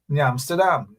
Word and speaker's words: New Amsterdam: Back in my day, we would say Nyamster. Nyam. Nyamdam. And that's what made it so beautiful, the pronunciation of those villages.